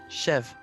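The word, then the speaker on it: Cheve: Chev. That's how it's pronounced.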